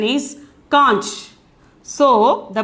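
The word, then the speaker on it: कांच: Simply we can pronounce it as kaj, but the pronunciation is conch.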